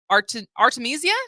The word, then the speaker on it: Artemisia: Charles Ives Opera prize for your new Opera Artemisia did I pronounce that correctly that's that's absolutely right hey